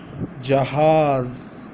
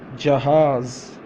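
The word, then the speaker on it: جہاز: Jahaz, Jahaz, Jahaz. How to pronounce ship in Urdu? Jahaz, Jahaz, Jahaz, Jahaz.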